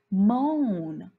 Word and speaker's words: moan: Okay, so if I see an O-A here, that means the O needs to do the talking. So we need to say this word with a long O sound.